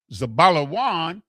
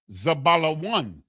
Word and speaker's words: Zabalawan: The next brother, Zabalawan, exalted Leah, the Za, the Ba, the La, the Wa, and the Na. Zabalawan.